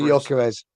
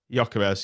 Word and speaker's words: Gyökeres: How would you pronounce his name? Victor Gyökeres. Gyökeres, yeah.